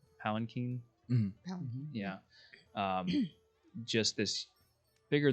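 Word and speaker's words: palanquin: like a massive glitter like um we've it's pronounced palanchin yeah um just this bigger than anything you've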